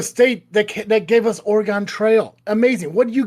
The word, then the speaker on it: Oregon: Everybody pronounces Oregon as Oregon and I 90% of the time just want to grab them and shake them and say, "Please never say that again or I will shake you hotter."